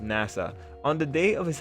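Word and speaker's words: 星空: The story follows a protagonist whose name is written with the characters for Hoshizora, Starry Sky in Japanese, but whose name is pronounced Nasa.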